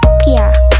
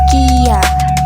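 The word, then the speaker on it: きゃ: kecil maka dibacanya menjadi kia bukan kiya karena huruf viragana tersebut dibaca menjadi gabungan.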